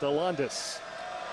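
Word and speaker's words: Alandise: another one coming up his first name is spelled a-l-a-n-d-i-s-e pronounced hollandis and sherrod uh talking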